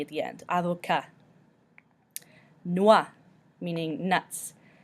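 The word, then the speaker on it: noix: the end either okay Noah meaning nuts you pretend almost like the X isn't there Noah Noah son we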